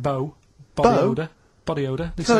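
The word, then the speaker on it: B.O.: It's not pronounced bow, and it's not spout bow. Who calls it bow? Everyone knows it's B-O.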